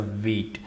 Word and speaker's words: Vite: white uh vgs so many of the developers pronouncing this as white but this is not white it's a wheat so hope you get